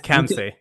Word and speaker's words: Khamseh: He can pronounce that for here in a minute. It's Khamseh.